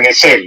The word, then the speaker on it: Gesell: No soy un especialista en la obra de Silvio Gesell, porque en realidad se pronuncia Gesell en alemán, ¿no?